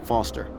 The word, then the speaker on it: Foster: pickle so it does I'm Foster I'll remember that easy because your name rhymes with fossil and you're old thanks kid what's wrong